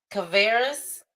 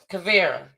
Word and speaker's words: Kavera: Caveras, I hope I said it right. I hope it's Caveras. Kavera. That was it.